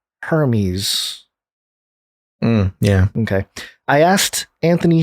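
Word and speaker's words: Hermès: luxurious feel reminiscent of the silent h in hermes yeah okay i asked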